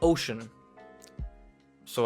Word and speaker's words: Oceaniz: my real name, and out of and ocean came Oceaniz, or Oceans, as people started calling me, and now that's how you pronounce it.